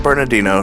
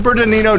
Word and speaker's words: Bernardino: At least, as a family of Squatches that we are, we got to spend the day in the beautiful San Bernardino National Forest.